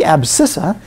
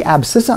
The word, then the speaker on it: abscissa: axis is called the abscissa and that does have a C in it although it isn't pronounced it's a silent sea it's the abscissa on the x-axis the